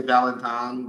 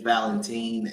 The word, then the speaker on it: Valentin: it's it Robert Valentine is that how you pronounce it that's right Robert Valentine yeah some people say Valentine but uh but it is Valentine and uh he's from Switzerland he's actually originally